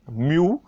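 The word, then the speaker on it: μ: इसको हम क्या प्रोनाउंस करते हैं, एम यू, म्यू। जैसे आपका छोटा u होता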